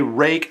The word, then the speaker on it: Ruike: I'm going to do my best to say rake. I know it's supposed to be pronounced R-A-K-E, and what I'm going